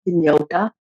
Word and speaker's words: Hynniewta: And as for my name, yeah, everybody mispronounced my name, so it's like a thing. My surname, which is Hynniewta, so a lot of people can't.